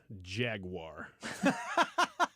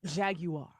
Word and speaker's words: Jaguar: you mean Jaguar Jaguar you can pronounce it however you want I pronounce it the English way Jaguar like the proper English like no yeah the American English Old Country Middle Country Midwestern English yeah not Jag Jaguar uh just get a